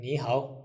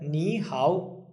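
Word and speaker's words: 你好: And if you look at the nihow, it's third tone, third tone. So it becomes second tone, third tone. Okay? So it will sound like nihow, nihow, second, third.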